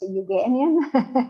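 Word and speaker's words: Euganean: And then we have like one hour away from Venice, close to Padua, the so-cal Uian hills, which is so hard for Americans to pronounce Ugian.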